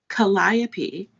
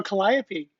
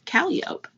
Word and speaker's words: Calliope: that's how you spell calliope yes but in new orleans they say the cat callup and i'm like that's awful hey kitty shelley good